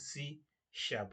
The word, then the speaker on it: C#: one is written C A has but it's pronounced as C Shar we need to know that it's pronounced as